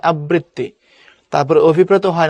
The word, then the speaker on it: আবৃত্তি: থাকে, রিকার যদি থাকে, তখন আগেরটা ডাবল হয়, যেমন আবৃত্তি হয় আবৃত্তি।